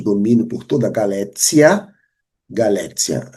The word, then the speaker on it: Galécia: Galécia. Alguns gostam de falar Galéquia, mas Galéquia seria uma pronúncia anterior, no período de 400 e pouco, 411, 430, era Galécia.